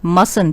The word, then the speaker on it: mustn't: children the pronunciation is mustang t is silent here it is not must